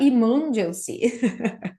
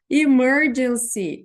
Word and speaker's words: emergency: emergency Exit Opa gente aqui tá emergency o certo é assim ó emergency emergency Exit depois no